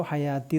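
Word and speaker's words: الحياة: സീനത്തു സീനത്തു അൽ ഹയാത്തി യാ നീട്ടാനുള്ള അലിഫാണിത് വാവിന് ഹർക്കത്തില്ല എന്നതുകൊണ്ട് അർത്ഥമാക്കുന്നത് അത് വാ ഉച്ചാരണം അല്ല വേണ്ടത് ദീർഘിപ്പിക്കുക എന്നുള്ളതാണ് അപ്പൊ ഇവിടെ യാ എന്ന് നീട്ടാനുള്ള അലിഫ് ഇരിക്കാനുള്ള സ്പേസ് മാത്രമാണ് ഈ വാവ് അപ്പൊ ഹയാത്തി തന്നെയാണ് കൺഫ്യൂസ്ഡ് ആവരുത് അദുനിയ അദുനിയ വൽ ബാക്കിയാത്തു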